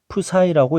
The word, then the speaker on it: psi: 파동함수는 F가 아니라 이런 식으로 쓰고 psi라고 읽습니다.